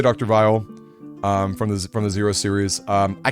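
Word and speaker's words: Weil: Vile, which is, you guys might call him Dr. Wheel, W-E-I-L. I've learned that it's pronounced Vile, it's like German or something, from Zero, the Zero series.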